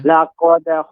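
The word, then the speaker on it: لقد: Laqad khalaqnal insana fi ahsani taqwim. Ya, untuk tadi pengucapan laqad tidak boleh lama.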